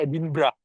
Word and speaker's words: Edinburgh: Itu Edinburgh itu tulisannya Edinburgh dibacanya Edinburgh ya, seperti itu beliau juga mewarnai.